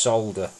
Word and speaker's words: solder: It's solder. Similar to shoulder and soldier. Salt a solder at the beginning.